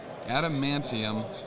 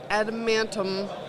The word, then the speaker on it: adamantium: all right so i always tried to say adamantium colossal knot and i said it correctly there that might be the first time i took that time how would you pronounce that adamantium uh-huh oh all right now that works uh